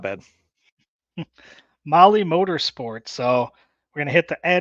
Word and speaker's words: Mahle: And for all of our podcast listeners, Molly is spelled Mahle.